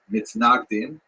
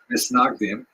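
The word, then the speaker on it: מתנגדים: A series of bans and counterbans between the so-called opponents, or in Hebrew, mitnagdim, Ashkenazi pronunciation, misnagdim, or to our friends, the snags.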